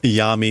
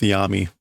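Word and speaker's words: 闇: with yummy here yeah I'm going to go with Yami because that's how you pronounce that kanji typically um the the thing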